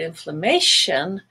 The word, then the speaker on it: inflammation: but if you look at the longer word inflammation now the a is still gray but everything